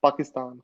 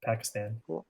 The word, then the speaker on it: Pakistan: other you keep saying Pakistan yeah this is pronounced my friend Pakistan Pakistan what are you saying you're like the Pakistan